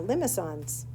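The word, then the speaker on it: limaçon: to move to uh limons the C with the little weird thing underneath I don't know what you call that it's pronounced like an x s so it's Limon so now you can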